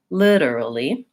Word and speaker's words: literally: point out is that the syllable stress in this word is on the first syllable so lip is going to be longer maybe higher in pitch and more important than early for syllables in this word so it's long short short short literally literally secondly I